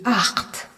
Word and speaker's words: acht: Le nombre 8 se dit acht. On est dans un mot où le CH ne se prononce pas HE, mais HA, comme dans Ah, so!